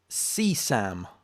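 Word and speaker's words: CSAM: sexual abuse material uh which is c sam okay that's what it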